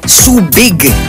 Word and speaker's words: Subic: may kinalaman sa pagsasaka sinasabing sa pagdating ni Juan de Salcedo na pagkakamali niya ang pagbigkas ng huik at ang nasasabi niya ay subik sa pagdating naman ng mga Amerikano naging subig ang pagbigkas dito hindi kalaunan nabalik sa subik ang tawag sa lugar bago